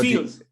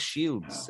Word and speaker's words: Shields: Yeah, Seal, it was his name, so Brooke Seals. Was that Brooke Seals? Not quite. No, not exactly. No, that's Shields, escudos. Shield. Shields. Pero yo digo shield. Seal. Shield. No. I think that's a Spanish pronunciation.